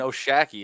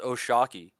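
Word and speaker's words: O'Shaquie: Foster but oh Sharky it's not even oh shaky it's pronounced oh Shockey oh isn't it the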